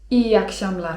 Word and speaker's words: iyi akşamlar: iyi akşamlar (czyt.